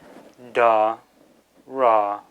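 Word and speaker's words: དར: Then finally the ra is pronounced like a final R in English. Da, ra, dar, meaning silk.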